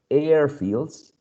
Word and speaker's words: airfields: second one is craft so airfields aircraft the first element is the one stressed if you are if